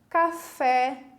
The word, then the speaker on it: café: Café, ó, de cara a gente percebe que o café, a última sílaba é tônica, né? Porque se fala é em vez de e, né?